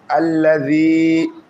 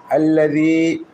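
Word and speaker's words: الذي: জাল ইয়াদের জি, আল্লাযী, এটা নরম করে উচ্চারণ হবে। দিব্যার আগা সামনের এবং নিচে দুই দাঁতের আগার সঙ্গে লাগাইয়া নরম করে উচ্চারণ হয়। আল্লাযী।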